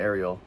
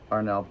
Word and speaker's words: Arnel: I was saying his name wrong the whole time. I always call him Ariel. Arnell Pened.